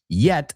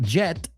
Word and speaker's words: yet: Still, yet, not jet, yeah. Es como decir ie, yet.